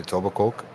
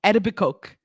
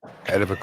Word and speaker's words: Etobicoke: The funniest thing is when the Americans try to pronounce Etobicoke. Oh, and the Tobacoke. No, Etobicoke. Etobicoke.